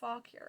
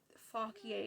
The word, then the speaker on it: Fauquier: lewis's account to governor faulkier or fauquier depending on how you want to pronounce that the group of 10